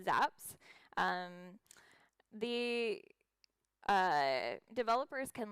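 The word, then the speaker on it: xApps: apps zaps stands for it's spelled x apps and it's pronounced zaps um the uh developers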